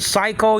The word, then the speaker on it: psycho: then but but but psycho is with a p though and and but the p is silent I think psychology I'm